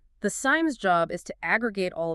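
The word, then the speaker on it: SIEM: And it's pronounced SIM.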